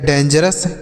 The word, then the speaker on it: dangerous: GER से जर पढ़ेंगे, OUS को अस पढ़ा जाता है तो यह लिखा गया डेंजरस।